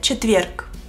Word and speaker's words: четверг: En ruso se dice четверг. Четверг. Четверг. Четверг. Ч и В son suaves. Четверг. Ч-в. Ч-в. Con una sonrisa.